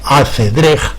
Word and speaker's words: acedrex: Ash-Shatranj, por lo que con la X final, pronunciada en el castellano antiguo como J, o sea, acedrej, intenta asemejar el sonido árabe.